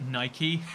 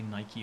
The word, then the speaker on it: Nike: yeah i it's pronounced nike after the goddess of victory i people who pronounce it nike uh do you pronounce